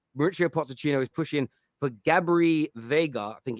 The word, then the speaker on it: Gabri Veiga: It's Mauricio Pochettino is pushing for Gabri Veiga, I think it's pronounced, who has a £34 million release clause.